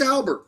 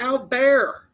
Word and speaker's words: Albert: Ma Matthysse Albert. Come on. It's Al Bear. Matis Alar sounds way cooler than Matis Albert.